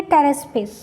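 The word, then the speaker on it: Pteraspis: इसमें जो पी है वो साइलेंट है, तो हम इसको बोलेंगे टेरेस्पिस.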